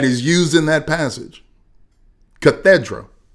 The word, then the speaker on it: cathedra: Cathedra. The English word, pronounced the same way, spelled with the C, is a bishop's official throne.